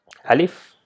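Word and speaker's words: ألف: So once again, Alif is simple to pronounce without any emphasis like a or a. It's just simple Alif.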